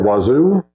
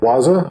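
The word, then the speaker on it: Wazuh: can use osac or wazoo or waza however however you want to pronounce it uh this is a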